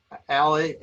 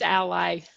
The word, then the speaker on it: Ally: of works and again ali ali is that how you pronounce it it's ally ally okay it should be